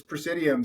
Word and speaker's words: PraesiDM: So Tim, can you describe uh Prescidium, I hope I'm pronouncing that correctly, and and what you're doing there? Yeah. No. Uh it's Prescidium.